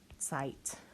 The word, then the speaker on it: Zeit: Z is pronounced T-S. E-I, say the second vowel. I, Zeit.